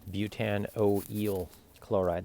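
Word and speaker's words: butanoyl chloride: Butte an you know oh it's eel okay Butte an O L chloride that's exactly how it's pronounced okay now another thing that you can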